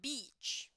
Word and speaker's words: beach: there you go now heads up with the pronunciation of this to the beach to the beach yes because otherwise we are going to refer to something else okay guys yeah because uh this is one of those words that depending on the pronunciation you know it can be misunderstood so Beach it goes like e okay awesome there you